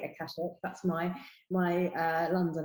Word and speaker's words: Akashic: I say it Akashic. Akashic. Some people say Akashic, and I'm sure other people say lots of other things. But yeah, I say Akashic.